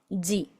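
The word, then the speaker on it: じ: Ojo acá porque en vez de tener la zi, tenemos ji. Esta j ni siquiera es la j del español, se pronuncia ji.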